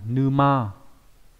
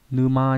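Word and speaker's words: 沼: Vào bên tay trái của cái chữ chữ triệu ấy thì được chữ triệu, nghĩa là đầm lầy, đọc là gì nhỉ? Numa. Numa nhá, có nghĩa là cái đầm lầy này.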